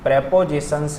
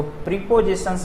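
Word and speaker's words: prepositions: Type number 5, जिस तरह से मैंने 5 वर्ड का आपको स्टॉक दिया, उसी तरह से कुछ प्रेपोजिशंस हैं, इसको प्रीपोजिशंस नहीं पढ़ के प्रेपोजिशंस करेक्ट प्रोनाउंसिएशन होता है, ठीक है।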